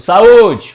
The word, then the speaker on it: saúde: O saúde. Qual é que dura mais? É a letra U, não é? Então a letra U é a sílaba tônica.